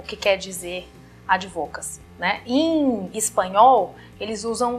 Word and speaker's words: advocacy: entende que é isso a palavra inglesa a pronúncia correta seria a advocacia mas aqui nós temos uma brasileirada né e falamos de advocacy pode voltar a ser